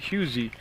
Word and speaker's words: Husey: Now again, if I pronounce her name wrong, I asked the coach how you say it, and he called it Husey, Julia Husey.